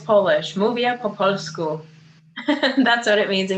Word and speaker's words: Mówię po polsku: Mówię po polsku.